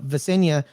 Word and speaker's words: Vesnina: Elena Vesenia is expecting her second child, having had a daughter. Vesnina. That's what You I said. said Vesnina. it right before the show. You No, said it is Vesenia.